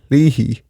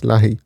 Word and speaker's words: Leahy: probably will know that the surname Lehi is sometimes pronounced Lahi. So, it'll be spelled L E A H Y, but it'll be pronounced Lahi.